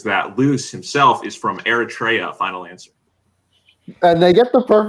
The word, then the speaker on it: Eritrea: So I think that's more a case of me being shit at geography. Than I think it's normally pronounced Eritrea.